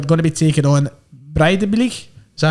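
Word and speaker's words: Breiðablik: We'll start with Aberdeen, who are going to be taking on Breidablik.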